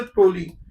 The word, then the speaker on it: toluene: इसका स्पेलिंग लिखते वक्त हम टोलुइन लिखते हैं, but actually it इज अ टोलीन.